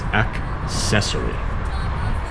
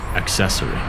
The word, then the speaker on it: accessory: guilty at accessory accessory it's difficult because it has that hard AC and then immediately the second C is soft so it's accessory accessory word number two is